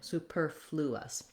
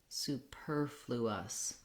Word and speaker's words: superfluous: just make the error to make sure that we have that l sound in there flew us we have our tense ooh sound again and our relaxed schwa in the last syllable so i would recommend